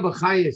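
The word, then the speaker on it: Bachya: Rabbeinu Bachaya says a reason, or Bachi, whichever way you want to pronounce it.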